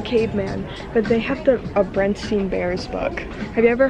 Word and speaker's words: Berenstain: The Berenstain. Yes. See, it's everyone remembers Bernstein. It being Stein, not Stain.